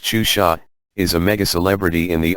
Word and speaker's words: Xuxa: Maria de Gra Meneghel, known professionally as Suxa, pronounced Xuxa, is a mega-celebrity in the eyes of the preteen set, not only in Brazil but throughout Latin America.